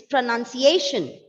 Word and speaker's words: pronunciation: pronunciation having not pronunciation again you are pronouncing the word wrongly it's pronunciation pronunciation c n u n it's none don't bring that ou sound that is no o there plus it is n